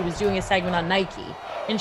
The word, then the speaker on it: Nike: We were writing her script for her, and she was doing a segment on Nike, and she pronounced Nike Nick.